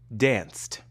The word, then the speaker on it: danced: Dance ends with the voiceless sound s. Dance. When we add ed, we say danced.